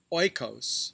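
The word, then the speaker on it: οἶκος: from the greek words oikos for house which we now pronounce as eco and logee for word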